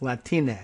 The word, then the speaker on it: Latine: latine she says uh don't pronounce it with the nye just say na like latine but i think i'm